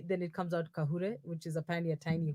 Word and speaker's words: Kagure: Tiffany Kahure. Kahure. Kahure. Okay, okay. It's a Okay, it very says thingy, because now if you don't say the G softly, then it comes out Kahure, which is apparently a tiny whore.